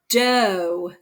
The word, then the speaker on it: doe: especially in the ocean this one is do so it has o e e is silent o says its name this is a do the baby doe was